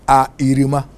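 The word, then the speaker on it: אפרים: Now, Ephraim in Hebrew is pronounced A-Irima.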